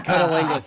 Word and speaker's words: cunnilingus: Cunnilingus.